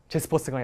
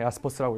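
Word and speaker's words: Jaspers: 독일어니까 제스퍼스가 야스퍼스라고 읽어주세요.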